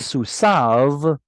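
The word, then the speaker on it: סוּסָיו: Unfortunately, it's pronounced all wackadoodle now. It used to be pronounced differently. It is susav, but the yod here tells you up, up, up, up.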